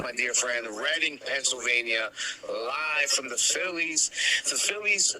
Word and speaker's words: Reading: Reading is pronounced, my dear friend. Reading, Pennsylvania, live from the Phillies AAA minor league baseball team stadium there.